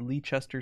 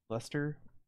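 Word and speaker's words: Leicester: in let's just let Lee Chester square or Soho East we don't list the only two territories we haven't seen right it's called Lester Square Lester I remember getting yelled at about that pronunciation I got yelled at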